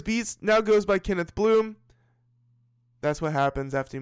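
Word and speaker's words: Blume: You know, I like that name, Kenneth Bloom. What a wonderful last name. It's spelled B-L-U-M-E, but, you know, pronounced like B-L-O-O-M, like a flower bloom.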